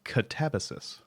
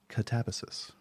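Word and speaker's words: katabasis: up at least the the Greek like the Greek epic it's catabesis oh wow catabesis is is the uh is the actual pronunciation we uh we figured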